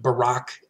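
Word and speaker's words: Buraq: this winged horse named Barack and our former president named Barack okay same sound different spelling it may in fact be phonetically the same name but no necessary connection okay also on this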